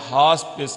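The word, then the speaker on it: hospice: मकबरा founder mean बानी, हास्पिस यहाँ आखिर वाला ई जो है ये साइलेंट है, इसको आपने हास्पिस कहना है।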